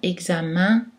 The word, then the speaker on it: examen: dans l'abdomen amen carmen dans certains mots eux n se prononce en fait un comme dans examen agenda pentagone comme aussi dans